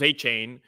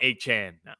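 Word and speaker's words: Achane: like but it's like achan first it was achain and then he had which is still cooler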